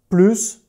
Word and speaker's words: plus: Une autre situation de la phonétique du mot plus, c'est le signe mathématique. Tu prononces le S. 3 plus 5 plus.